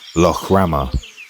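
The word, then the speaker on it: Lough Ramor: Actually, it's pronounced Lo Rama, sorry island.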